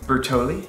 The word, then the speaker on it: Bertolli: Bertolli?